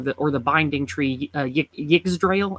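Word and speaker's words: Yggdrasil: or the binding tree giggs drail i think is how you say it yes the y letter often being more like a a so yes and um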